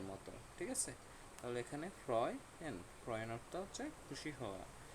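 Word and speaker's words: freuen: ওকে, তারপর ফ্রয়েন, ফ্রয়েন অর্থ হচ্ছে খুশি হওয়া। এখানে আরেকটা রুল দেখাইয়া দিই, সেটা হচ্ছে এ উ যদি একসাথে বসে, এটার উচ্চারণ হয় অ এর মতো।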